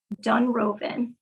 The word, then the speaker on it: Dunrovin: Dunroven. Dunroven. Okay. Yeah. You spell it.